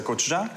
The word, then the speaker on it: gochujang: fermented chili paste, the gochujang. So the what? The gochujang. I just love the way you say it because I've been saying it wrong so long.